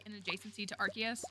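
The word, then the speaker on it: Arceus: like in adjacency to archus so I think arus sounds better but I uh have been forcing myself for three years to say archus to do that I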